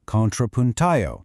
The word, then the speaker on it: contrapunteo: And then, there is the poetry in motion known as contrapunteo, pronounced "kohn-trah-poon-tay-oh". Picture this, two singers standing face-to-face.